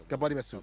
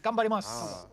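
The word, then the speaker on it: 頑張ります: Gambari mesu. Did I say it wrong again? Almost. Almost. Just pretend. I gotta get pretend the U doesn't exist in that, right? Just say "gambarimasu" kind of thing.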